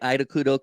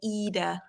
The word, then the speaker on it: Ida Kudo: say your name right idao because you are like Scandinavian I'm yeah we don't pronounce yeah we don't pronounce the eyes as I we pronounce the eyes as e so you'd say eudo yeah well you're a